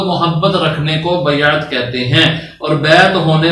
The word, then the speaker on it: بیعت: بندے کا بیعت ہے، اس کا درست تلفظ بھی سیکھ لیں، بیعت کہتے ہیں۔ بیعت کا کیا مطلب ہے؟